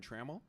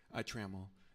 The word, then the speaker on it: Trammell: Trammell. And yeah, TRA. Oh, I say Trammell, but you may pronounce it differently.